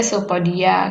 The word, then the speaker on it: pseudopodia: hai eh Sewu kaki semu pseudopodia itu dibaca sopo dia kayak gitu contoh aja